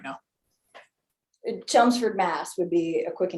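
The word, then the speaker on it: Chelmsford: Chumsford, Mass would be a quick What is it? Chumsford, Massachusetts. What do you spell that?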